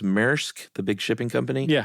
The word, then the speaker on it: Maersk: And I think uh is it pronounced Maersk, the big shipping company?